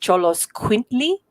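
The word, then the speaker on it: Xoloitzcuintli: the the mexican dogs are that it's actually pronounced cholos quintly and um trying to get a north americans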